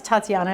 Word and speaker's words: Tatyana: your name right there yes Tatiana is perfect okay and surname wise